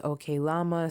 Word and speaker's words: Oklama: So we hear Kodak Black's voice throughout, and he says "Okay, Llama," so that's how I know to pronounce it.